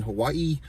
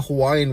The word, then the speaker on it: Hawaii: Like she says, like the way that she even says Hawaii, I can't even do it. It's like Hawaii, like she pronounces every A and I, Hawaii, and then she's always